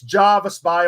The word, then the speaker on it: Jervis Bay: mate well done uh it's Javis Bay or Jervis Bay I know the locals call it Jervis Bay everyone else calls it